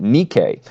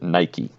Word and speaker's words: Nike: chant of the crowd, Nike, because that's the Greek word for victory. Of course, now, because of the modern shoe brand, we pronounce it Nike.